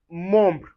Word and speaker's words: membre: Anyway you see en or em, you pronounce it as on. And you can see it in word like vent. vent which means wind. And we have another example, membre.